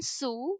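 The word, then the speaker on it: zu: is a German preposition Sue which you will learn in the upcoming videos so C it is spelled with a z but we are pronouncing it with s all right so these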